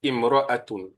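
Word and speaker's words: امرأة: alors on va dire imroat hein donc c'est c'est trois façons de enfin deux façons de prononcer soit on dit al mar quand il y a l'article al s'il y a pas d'article Alors ça et le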